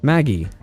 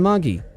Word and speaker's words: Magi: current new AI project called Maggie yes you can say it like Maggie noodles you see Google positioned